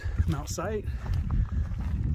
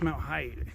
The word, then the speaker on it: Mount Height: We just, Mount Sight? Height. Oh, it's Mount Height. Yes, it's spelled weird. H-I-G-H-T, Mount Height.